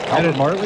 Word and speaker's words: Everly: Everly, is that how you say it? Yeah.